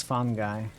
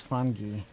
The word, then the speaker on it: fungi: it's hard to tell fun guy I think that's not correct actually but you know it's probably one of those situations where both pronunciations are correct that one's hotly debated American is fun guy Bri is funi one of the bizarre